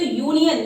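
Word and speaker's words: union: आप देख सकते हैं यहाँ यू है हमारा क्या है, इंग्लिश का वोवेल, लेकिन जब इसको प्रोनाउंस करें तो यूनियन यानी कि या का साउंड है.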